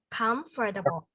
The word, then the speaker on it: comfortable: that correct there yes comfortable is not comfortable okay comfortable we have to stress in the first one comfortable the first syllable okay yeah and i